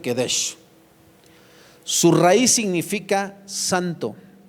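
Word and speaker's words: קדש: La palabra hebrea que se traduce por santificó es la palabra Kedesh, no lleva U. ¿Sale? Le aviso. Es hebreo. Yo no sé hablar hebreo, hermano, pero pues mi entendimiento me dice que se pronuncia Kedesh.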